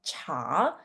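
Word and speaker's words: 茶: Okay, so for this occasion, this word in Mandarin is called cha. So the second sound, it goes, you need to go up with the pronunciation.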